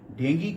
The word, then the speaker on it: डेंगी: आज आपसे डेंगू बीमारी के विषय में बात करूंगा, जिसका सही उच्चारण डेंगी होता है।